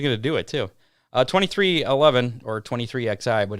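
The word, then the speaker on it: 23XI: get to our how many for this week twenty three eleven do how many again yeah yeah we're actually gonna do it too uh 23 11 or 23 xi but it's actually pronounced 23-11 uh racing may expand with another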